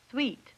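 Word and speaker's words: suite: they look for example suit no sweet it's a French word how about wor sister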